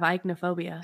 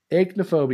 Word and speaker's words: aichmophobia: I kept saying Ike all week, and I started thinking about it, and I'm like, oh, that must not be how you pronounce it. Because that would be E. It'd be like E-I-C-H.